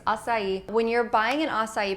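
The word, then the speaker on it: açaí: don't know it's spelled a AI I know a lot of people pronounce it aai it's assai when you're buying an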